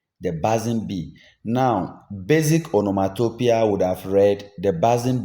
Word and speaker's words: onomatopoeia: Some say onomatopoeia, but I think basically it should be onomatopoeia.